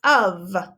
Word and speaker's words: of: writing the trick word of again it sounds like a u v but we know that of is spelled o and then an f o f of o f of i'd